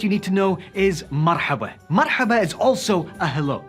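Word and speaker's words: مرحبا: But I really would like it if you could try to say marhaba, because I know someone out there is going to be like, marhaba. No, marhaba. That's how we say it.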